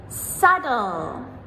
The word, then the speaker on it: subtle: Subtle, subtle, doubt, doubt, debt, debt, numb, numb, plumber, plumber. So, as you can hear in all of these words, that letter B, we do not pronounce it ever.